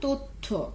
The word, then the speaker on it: তথ্য: আরো কয়েকটা শব্দ তোমরা চেষ্টা করে দেখো দেখি পারো কিনা, যেমন লিখলাম তথ্য, ख्याल करो तयर साथ व्यंजनर साथ जफला आछे তাহলে আমরা এই শব্দটার উচ্চারণ করব তোমরা একটু খেয়াল মনোযোগী হও তো